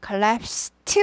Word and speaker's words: collapsed: collapsed 발음이 납니다. 원래는 드지만 collapse가 무성음이기 때문에 무성음, 목소리가 울리지 않는. 그래서 무성음화돼서 collapsed 하지 않고 collapsed.